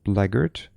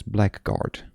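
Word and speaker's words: blackguard: Why is this pronounced bleard? And why do I only know this thanks to Hades? Normally, I would have just pronounced this black guard.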